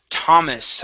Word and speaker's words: Thomas: Let's go to the word Thomas. Okay. Since this is a name, all right, this is a typical name. That th would be pronounced only like a T. So the H is silent.